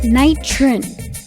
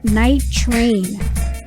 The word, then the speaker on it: Knightrin: to close altercations with rival neighborhoods nitron is pronounced night trin one of the t's were dropped to make